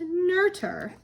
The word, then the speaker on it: Noether: Not her. I actually believe it's pronounced Noether.